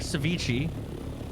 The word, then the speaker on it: ceviche: How do you How do you How you How do you say it? Ceviche.